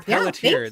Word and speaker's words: Pelletier: Did I say that right? I've never never quite asked you if that's how you say it or not. Did I get it right? Yeah, you did. Pelletier. But Pelletier.